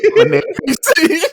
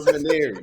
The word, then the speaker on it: Manieres: I'm a Maniere, yeah. All right, that's how Monterey. everybody listening right now. You got to Yeah. start saying I'm on Manieres. All Come right, on. Maniere rhymes with more stuff.